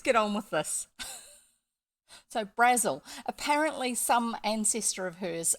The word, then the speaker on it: Brazil: as Brazil but pronounced Brazil yes yes like the Razzle not the country exactly I don't know